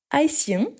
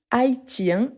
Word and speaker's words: haïtien: Donc, il est haïtien. Ici, attention parce qu'on peut dire haïtien et haïtien. Il y a deux prononciations. La plupart des temps, on a avec ces sons de S, haïtien, mais il y a les deux possibilités.